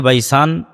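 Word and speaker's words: بيسان: বাইসানেরা তাবারিয়া আইনে নালে বাইসান সম্পর্কে বল খেজুর বাগান এই বাইসানটা এখন ইসরাইলের সীমানার মধ্যে পড়ে হিব্রু এবং আরবি উচ্চারণের পার্থক্যের কারণে তারা উচ্চারণ করে বাইতশিয়ান যেটা আরবিতে এসেছে বাইসান সেটাই হিব্রুতে বাইতশিয়ান ইসরাইলের একটা ভালো প্রসিদ্ধ শহর।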